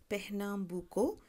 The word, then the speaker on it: Pernambuco: of the word but pronunciation tells me it's pronounced as Pernambuco and another native place that constantly finds reference